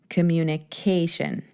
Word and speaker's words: communication: ending to that word makes that a the syllable that we emphasize right communication very very cool so simply all we have